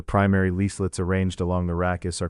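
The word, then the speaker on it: rachis: For calm consistency, we can pronounce it rakus.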